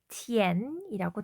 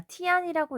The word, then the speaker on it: 甜: 자, 첫 번째 단어는요. 티엔이라고 되어 있죠. 자, 티안이라고 읽지 않도록 조심해 주시고요.